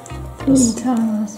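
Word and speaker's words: fluitans: Und hier die Rikia Flutanas. Auch nochmal den Namen, falls ich es auch falsch ausgesprochen habe. Fluitanas.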